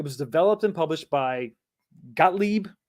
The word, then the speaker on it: Gottlieb: So it was developed and published by Gottlieb, I think is how you pronounce it, in 82.